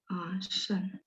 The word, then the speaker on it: 膳: Ini hurufnya memang bacanya can. Nah, kalau yang Yunita dengar 用膳 itu dia tulisannya ini. 用膳. 善良的善. Shan.